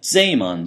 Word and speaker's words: Zeeman: and that's called the Zeeman, actually I suppose I should pronounce it like a German, the Zeeman splitting.